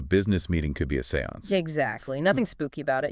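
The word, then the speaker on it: séance: it even taught me the proper pronunciation Seance Seance right not like you usually hear it it's French you see and in French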